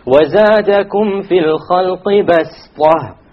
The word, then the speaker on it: بَسْطَ: say وَزَادَكُمْ فِي الْخَلْقِ بَسْطَ. بَسْطَ. Okay, so you don't pronounce it as a sad, you pronounce it as a seen, even though it is written as a sad.